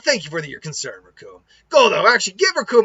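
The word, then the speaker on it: Recoome: the true might of raccoon and it rhymes with doom and guess what and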